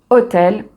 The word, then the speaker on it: hôtel: Ici, on va utiliser un d' parce que "hôtel" est considéré comme un mot qui commence par une voyelle puisqu'on ne prononce pas le H.